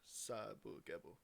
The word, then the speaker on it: Sabagebu: Sabagebu.